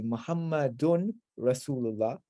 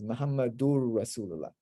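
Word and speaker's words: محمد رسول الله: Or we say Muhammadun Rasulullah because Muhammadur Rasulullah. So in front of the R and the L, the noon completely merges into it, and you don't have any nasalization there.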